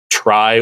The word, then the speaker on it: trie: is a kind of, I think it's actually pronounced try when it's in the TRIE form.